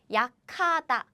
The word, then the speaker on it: 약하다: We don't write it like this, but still, this is how Korean people pronounce it. 약하다, 약하다.